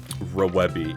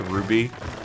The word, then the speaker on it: RWBY: But the series is pronounced, or is spelled RWBY, but it's supposed to be pronounced Ruby. It's actually like an anagram